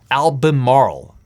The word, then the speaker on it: Albemarle: Albemarle. I have problems pronouncing that one.